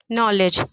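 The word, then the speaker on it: knowledge: जैसे कि हम लोग नॉलेज की स्पेलिंग ल लिखते हैं जब नॉलेज लिखा तो इसको के से जाता है बट के क्या हो जाता है इसमें साइलेंट हो जाता है और उसको पढ़ते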